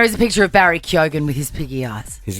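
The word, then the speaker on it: Keoghan: in we've always said that correctly CU it's kyogen and what do people say Keegan Co what do they say kogan Ken I've heard kin before cuan I've heard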